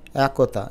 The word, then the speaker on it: একতা: আমরা সংবৃত বলি তাহলে উচ্চারণটা হবে একতা এটা পড়ে দেখো তোমার স্বাচ্ছন্দ বোধ হবে একতা না বলে একতা এটা দেখো এখন নাকি